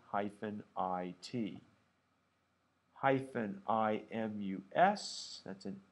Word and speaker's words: isti: Here's how they're pronounced in English. I know that's an I with a macron over it or a hat, but here's how you pronounce it.